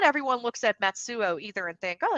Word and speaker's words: Matsuo: not have thought and matsuo I think I pronounced your name a little wrong in my introduction when I did intro early I think I'm in Matsu but matsuo matsuo matsuo yeah oh okay I have